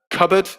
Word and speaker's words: cupboard: in british pronunciation um cupboard is a good one says crystal yep cupboard it's spelt with a p but the p is not pronounced subtle is a very